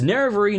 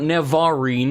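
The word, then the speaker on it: Nerevarine: It's Nervarine, not Nevarine, or whatever you said.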